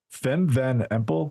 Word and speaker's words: Fem van Empel: So Fem van Empel, is that how we say her name, Johan?